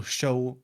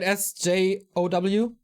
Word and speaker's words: Sjow: SJOW? Yeah, they pronounce it Show. Yeah. I don't do that. I won't let him tell me how to pronounce his name. He's Sjow.